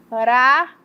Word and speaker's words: Paraguai: Na hora que eu pronuncio, um som é mais fraco, outro som é mais forte e outro som é mais fraco. Vou pronunciar para vocês perceberem comigo, ó. Paraguai, o U fica mais fraco, o A fica mais forte e o I fica também mais fraco.